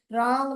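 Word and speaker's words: wrong: है श्वेता जी ओके रंग में डब्लू साइलेंट आएगा स्वेता जी रंग में ए स्पेलिंग आएगा आपका यह वाला गलत होगा रंग डब्लू साइलेंट आएगा वो रूल्स में कवर करेंगे हम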